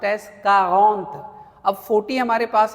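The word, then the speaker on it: quarante: सो नाउ we have 40 and that is pronounced as कारगोंथ।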